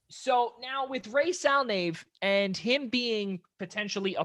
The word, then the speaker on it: Ray Salnave: Yep, just the way it sounds, Ray Salnave. So now with Ray Salnave and him being potentially